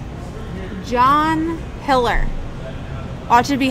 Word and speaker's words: Hiller: It should be pronounced how it's spelled. John Hiller. Oh, it should be Hiler.